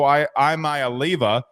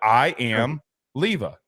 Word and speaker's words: Iamaleava: We've had disagreements, not just about Jaden Rashada, but also Nico Iamaleava. Okay, got it right that time. Did you? But yeah, I mean, I've listened to him 6 times, but I am Leava.